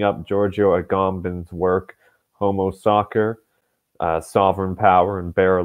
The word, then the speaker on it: Sacer: second sorry about that I'm back uh it's pronounced soccer actually at least and if you take the